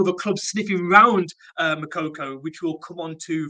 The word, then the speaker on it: Moukoko: talking about this man on screen you suffer makoko that's how you pronounce it it's just Coco um Newcastle have